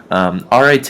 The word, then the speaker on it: arete: you may or may not know how to pronounce, the word is arete, and it is a Greek word, and arete is actually something that my fraternity uses.